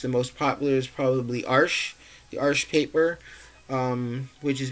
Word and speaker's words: Arches: But this is a little bit more economically priced than the Arches paper. And for anyone who's ever wondered, it is pronounced Arches. A lot of people say Arches, but it is actually Arches. So I just tend to say it that way.